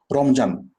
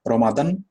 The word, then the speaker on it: রমজান: রমজান আমরা স্পষ্টভাবে উচ্চারণ করতে পারি, বাট তারা পারবে না। তারা কি রমাদান, রমদান, ওকে, এভাবে উচ্চারণ করবে। রমজান আমরা যেভাবে স্পষ্টভাবে বলতে পারি, ওরা কখনোই সেটা বলতে পারে না, এটা তাদের লিমিটেশন।